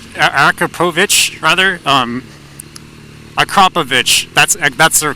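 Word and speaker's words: Akrapovič: That's Akrapovic, rather. Akrapovic. That's the correct pronunciation. Akrapovic.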